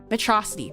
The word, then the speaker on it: Metrocity: Promisu, Metrocity, Metro City. But we say it like Metrocity, like in Megamind, because I love Megamind, and that's how I read it.